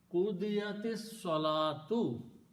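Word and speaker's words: قضيت الصلاة: And when you read this together, qudiyatis salatu, you combine these two and don't pronounce the alif in between, and it becomes hamzatul wasl with a little hamza on alif.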